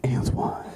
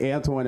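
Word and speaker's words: Antjuan: born straight and then my parents named me Antoine like with a name like Antoine in my cheekbones you know what I mean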